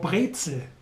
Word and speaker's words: Brezel: The most famous bread article in Bavaria would be the pretzel, or Brezel, as the locals say.